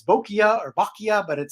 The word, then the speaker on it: Boccia: It's Boccia, as in bocce ball.